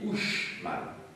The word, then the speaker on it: Uxmal: Donc, CH, ça se dit che, comme gracias, gracias muchachos, hein, vous savez, et le X se prononce che. Hein, on dit Uxmal, hein, comme on dit Don Quichotte.